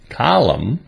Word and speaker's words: column: N is a silent letter when it comes after the letter M, as in these examples. Autumn, column, solemn, and hymn.